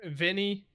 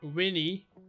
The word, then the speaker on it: veni: So we would read this in English as veni, vidi, feci, right? But a V in Latin is pronounced as a W. So this would be Winnie, Widdy, Wedgie, as in a wedgie.